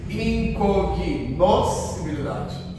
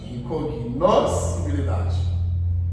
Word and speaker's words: incognoscibilidade: incognoscibilidade. Incognoscibilidade. Trabalhar com a palavra. Só o S. Família silábica está aí para nos ajudar. Incognoscibilidade. Olha, que a princípio parece impossível de ser pronunciado.